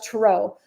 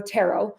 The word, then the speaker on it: tarot: Um, I have a client who does tarot or tarot. I didn't know that people pronounced it different ways until she was my client.